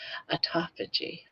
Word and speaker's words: autophagy: Excellent pronunciation. Autophagy.